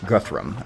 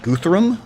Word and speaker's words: Guthrum: we encountered a guy named Guthrum instead of Guthrum, but I suspect it's going to be the same character. This game definitely does Norse pronunciations and Norse spellings as opposed to Old Saxon, because I know that